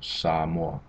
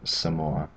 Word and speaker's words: Samoa: And that's the biggest difference with the A, is it's an ah sound, so Samoa instead of Samoa.